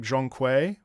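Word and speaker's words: Zhong Kui: It's pronounced more like Zhongkui.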